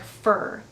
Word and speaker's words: for: for four months and we say it like fur for four years for three months for five days and we use since